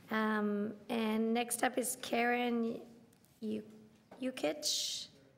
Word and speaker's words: Jukic: I told someone once to just think of Yukon.